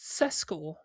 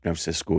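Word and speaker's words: Xisco: Was it was it pronounced Cesco? It was Cisco.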